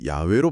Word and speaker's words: 야훼: 히브리어에는 알파벳 J에 해당하는 발음 자체가 없습니다. 발음 자체가 없다고요? 구약 성경에 기록된 하나님의 이름은 4개의 자음으로 표기되는데 학술적으로는 이를 야훼로 발음하는 것이 훨씬 더 원형에 가깝다고 봅니다. 여호와는 나중에 이 단어가 독일어나 라틴어 계열로 번역되는 과정에서 모음이 섞이고 발음이 변형되어 굳어진 잘못된 표기법에 가깝죠.